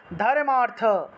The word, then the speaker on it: ধর্মার্থ: দেবী ধর্মার্থ মোক্ষাদে দেবী এই ধর্ম এবং অর্থটাকে একসাথে উচ্চারণ করবেন একসাথে ধর্মার্থ বা ধর্মার্থ বলতে পারবেন ধর্মার্থ বলে ফেলবেন ধর্মার্থ মোক্ষাদে দেবী নিত্যমে